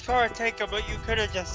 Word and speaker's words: karateka: sorry sorry sorry karate karataka sorry karate practitioners if i butchered that um uh it's kara taker but you could have